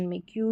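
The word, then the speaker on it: make: वह साइलेंट रहता है फाइनल मतलब कि लास्ट में मेक टेक और होप यहां पर मेक की या टेक या होपी ऐसे नहीं पढ़ रहे क्योंकि ई का साउंड नहीं आता लास्ट में अब चलिए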